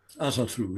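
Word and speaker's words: Ásatrú: Is it Asatru? Asatru. Yes.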